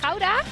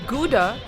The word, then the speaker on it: Gouda: The Netherlands is known for its cheeses worldwide, especially this one in Dutch pronounced Gouda? not Gouda, it's a global hit.